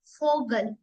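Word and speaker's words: Vogel: like फ जैसे की अब वी है ब की साउंड कैसे आएगी फोगल फटर फ साउंड आ रही है नॉट व फटर फगल फ sound mean फगल mean bird and फटर मीस फादर य भी याद रखने की बात है कि वी की साउंड व नहीं फ आती है ठीक है नेक्स्ट है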